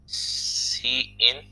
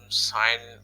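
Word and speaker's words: cin: तो user input लेने के लिए हम जो वेरिएबल का यूज़ करेंगे वो है सी इन। तो आप इसको साइन प्रोनाउंस ना कीजिएगा, इसको सी इन प्रोनाउंस करते हैं, और सी आउट आउटपुट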